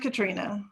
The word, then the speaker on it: Katrina: it's cat it's katri it's pronounced katrina katrina like like the hurricane katrina hurricane yes all right